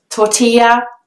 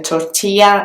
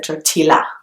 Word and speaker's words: tortilla: something inside it so that double L is actually pronounced as it should be in Spanish it makes the sound ye so tortilla instead of totila but then the next